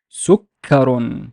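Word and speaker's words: سكر: So let's imagine there's no shadda here, so it's ka, ka. But if I want to double the kaf sound, so it's sukka, sukka, sukkarun, sukkarun, sukkarun.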